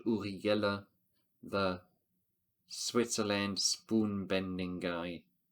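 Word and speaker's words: Uri Geller: spoon you know uh I only know the German way to pronounce it because it's a guy from Switzerland uriguela the Switzerland spoon bending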